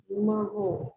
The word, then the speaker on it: mho: तो इसको पर ओम लिखते हैं, और पर ओम में ना ओम की स्पेलिंग भी उल्टी हो जाती है। तो OHM इसको कर दोगे ना तो मो बन जाएगा ये, महो।